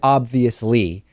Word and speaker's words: obvious: obvious and of course the correct pronunciation is obvious there is a b followed by a v which i'm kind of